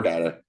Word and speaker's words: data: type data uh or data however you want to pronounce the word if you haven't heard before it is a Latin word so the L and